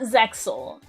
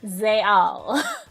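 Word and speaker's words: Zexal: x in yugioh zayel is pronounced like a y it's it's not zexel it's zayal uh the x in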